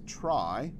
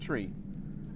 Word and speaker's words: trie: the name of this from the middle characters of the word retrieval so he wanted it to be pronounced tree so if you're sticking